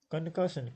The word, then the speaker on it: concussion: Concussion, concussion, three. There are three syllables, and second syllable is also stressed.